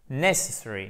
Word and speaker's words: necessary: Necessary. Vous voyez, donc en fait, on appuie sur la première syllabe et après, on déplie le reste de la prononciation.